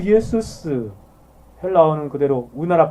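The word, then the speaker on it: Ἰησοῦς: 그래서 예수라는 이름의 의미를 아는 사람은 그 예수스, 헬라어는 그대로 우리나라 발음하고 비슷합니다. 영어에서는 그냥 지저스라는 엉뚱한 이상한 발음으로 가버렸는데 원래 헬라어가 예수스, 우리나라 말도 예수 그대로 번역됐죠.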